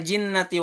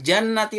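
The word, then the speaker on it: الْجِنَّةِ: Kemudian minal jinnati wan nas, dan dari sebagian jin dan manusia. Kita baca dengan minal jannati wan nas. Kan jannah itu kebun ya. Dan dari sebagian kebun dan manusia. Itu juga fatal.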